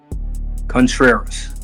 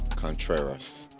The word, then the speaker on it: Contreras: It's too Spanish. Too Spanish for me. It's a 3-syllable word. Contreras. Contreras. That's it. Contreras.